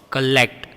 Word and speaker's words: collect: Collect and commute are pronounced with short K sound. See, K, collect, K, commute.